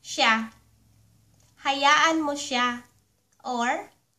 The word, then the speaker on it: siya: Hayaan mo siya (pronounced sha) Hayaan mo siya.